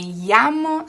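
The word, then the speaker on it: llamo: not melamo sofi me yamo sophie so the double l's is this yu sound basically like a y yeah okay and the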